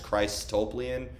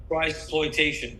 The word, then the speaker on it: Christploitation: And then, I can't pronounce the title, but off Mechanize, Christoplian or something like that. No, Christploitation. Christploitation.